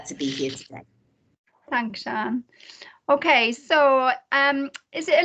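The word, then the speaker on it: Sian: name's sean it's um it doesn't look like it should be pronounced shawn it's s-i-a-n but it's a welsh name so so that's why so it's sean and i'm from clamberton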